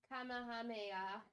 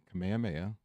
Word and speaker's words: Kamehameha: Um, the guy portraying Kamameha. Kamehameha. Oh, duh. Okay. I know how to pronounce it, but reading it was weird.